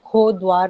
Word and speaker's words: कोटद्वार: सर, कोटद्वार एक आज की डेट में मॉडर्न फ्लो में चलता हुआ वर्ड बन गया है, लेकिन एक्चुअली इसका प्रोनाउंसिएशन खो द्वार था, because it is entry point of the river खो, इसीलिए खो द्वार,